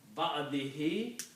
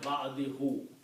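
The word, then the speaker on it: بعده: It is easy to pronounce ba'dihi instead of ba'dihu, because kasra stays at the bottom of the tongue if you say ba'dihi.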